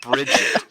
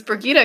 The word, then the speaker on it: Birgitte: spelled out there that it's not bridg yeah so the first time I watched the episode I didn't catch that it was brigita because I was like